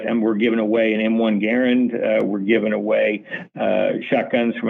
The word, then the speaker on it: Garand: I just want to mention real quick, I noticed that you pronounced it, the M1 Garand.